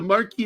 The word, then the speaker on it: Marquis: the Marquis of Queensbury it's the Marquee but yeah no I know how the French pronounce it but the the Irishman here I think he calls him the mar Queens we learned to say Marquee but here's the funny